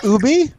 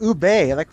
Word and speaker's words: ube: the lars corrected him oh is that ooby no it's pronounced ube so yeah so